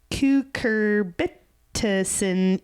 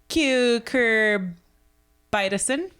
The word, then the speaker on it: cucurbitacin E: Oh, like the letter E, like say vitamin that word, E. Cucurbitacin.